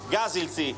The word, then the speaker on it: gasilci: 5 mezzi dei Gasilci, come si dice pompieri o vigili del fuoco in sloveno, così diamo anche la pronuncia corretta.